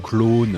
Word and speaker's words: Klone: Clone carico ne Cocor clone. Alors je le prononce comme ça parce que clone c'est la France monsieur.